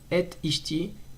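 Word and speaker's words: את אשתי: Attention, et ishti, faut prononcer le aleph de ishti et pas l'avaler avec le tav.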